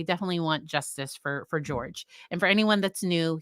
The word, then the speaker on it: George: want Justice for for George and for anyone that's knew he pronounced it George versus Jorge and that's what his that's how his family refers to him and um sometimes that's